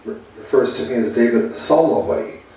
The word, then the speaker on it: Solway: Teddy goes and refers to me as David Solway. I don't need the extra syllable in the middle.